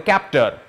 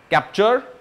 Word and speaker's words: Captur: moving on we have the Renault captor capture captur I'm just going